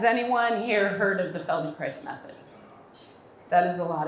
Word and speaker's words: Feldenkrais: you spell it and this is how you pronounce it and now you know more about the Felding Chris method than most people um has anyone here